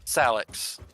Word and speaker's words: Salix: the tree Willow um it's pronounced salex salex yeah that's the that's the actual pronunciation of the Latin word for willow tree right okay and Willow